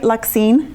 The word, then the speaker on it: Luxine: Did I pronounce that right? Luxine? Yes, you did.